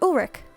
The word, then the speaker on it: Ulrich: I'm the castle inspector, Ulrich. I know that because I watched Code Lyoko as a kid, and that's how you pronounce that name.